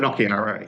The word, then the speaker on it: Finocchiaro: Jacinta Price, and also the Chief Minister, Leah Finocchiaro, is that how you pronounce it? Finocchiaro, yeah.